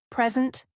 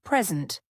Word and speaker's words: present: Present, noun versus present, verb. I received a present, gift. Stress on the first syllable. I will present, my project, to show something. Stress on the second syllable.